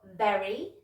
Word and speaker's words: very: Okay, so we've got very, very, and verb, verb. Okay, so if you notice, my top teeth are actually on my bottom lip when I make that V sound.